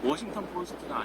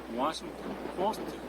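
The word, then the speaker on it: Washington Post: 워싱턴 포스트가 아니고 워싱턴 포스트. 그래서 포스트에서 앞에 강세가 있기 때문에 뒤에 트 발음은 거의 안 들리는 거거든요.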